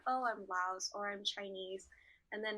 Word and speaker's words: Laos: indigenous people are we laos yeah i gotta give you a culture what you say yes the s is silent so technically it's supposed to be pronounced lao solo is like what